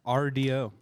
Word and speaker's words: RDO: RDO. RDO. Like radio spelled like if you were a hipster band.